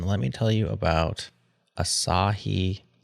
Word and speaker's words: Asahi: me tell you about aahi Linux is that how you say it Justin Asahi Asahi Asahi Linux which is an